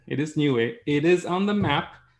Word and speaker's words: Niue: new thing, because there is a country called Niue. It's pronounced exactly like I said. It is Niue.